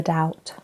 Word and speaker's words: doubt: To give someone the benefit of the doubt.